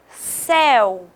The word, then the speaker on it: céu: Olha só, céu. Céu é um timbre aberto. Se fosse seu, seria um timbre fechado.